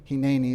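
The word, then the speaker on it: הנני: Hineni is how you say that in Hebrew.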